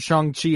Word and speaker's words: Shang-Chi: his name was it shangshi uh yeah it's uh I he was referred to by Wong as Xiang Chi so I'm comfortable going with the CH sound for chi I do know however